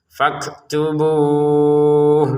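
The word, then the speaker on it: فَاكْتُبُوهُ: Nah, begitulah kaf itu. Keluarkan sedikit napas, dan juga bunyi ta; Karena kafnya sukun, napasnya lebih terdengar dan terasa, faktubu. Untuk 'bu' di sini, kita membacanya selama enam ketukan karena kita sedang berhenti.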